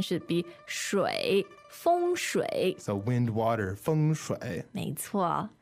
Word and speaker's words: 风水: the US, but people didn't know how to pronounce the pinyin, so they would say feng shui. 对. And now, you know, the correct pronunciation should be shui. 风水.